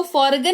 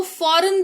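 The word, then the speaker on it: foreign: तो किसी शब्द में जी के तुरंत बाद अगर एन लगा हुआ रहता है तो जी बेचारा साइलेंट हो जाता है। जी के तुरंत बाद एन लगा हुआ हो। जैसे इसको फॉरेगन नहीं इसको फॉरेन पढ़ते हैं।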